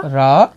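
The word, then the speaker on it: רע: It is Ayin, which is silent.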